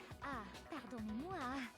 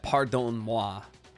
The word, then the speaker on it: pardonnez-moi: She just pronounced that pardonne-moi. Shouldn't it be, it should actually be the way it's written, pardonnez-moi. I mean, obviously you don't pronounce the Z, but it should be pardonnez-moi. She mispronounced it, I think.